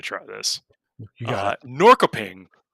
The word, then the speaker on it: Norrköping: So I went and looked up the pronunciation. It's Norrköping.